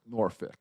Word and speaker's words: Norfolk: okay five stars subject Norfolk what he has to say is pronounced noric and that's our review